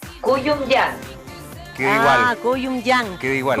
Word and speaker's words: Kouyoumdjian: ¿Cómo se pronuncia? Kouyon-yan.